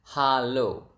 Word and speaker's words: halo: It's halo. Ha lo. Okay, halo. Hello. So, the the natural way of saying it would be halo.